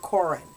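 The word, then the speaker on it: Corrin: But then I have a character that's C-O-R-R-I-N, and I spell it Corin. I mean, I pronounce it Corin.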